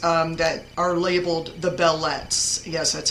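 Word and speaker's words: belles lettres: in the lectures um that are labeled the bellet yes that's how you pronounce that believe it or not the bellet which literally means beautiful letters he's talking about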